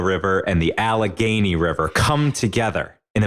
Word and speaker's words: Allegheny: for you ready the Monongahela River and the Allegheny River come together in a marriage right there